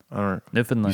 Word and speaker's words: Newfoundland: Uh, you say it like understand Newfoundland. You say it like Newfoundland, right? You say it like understand. I don't know what you mean. Newfernland.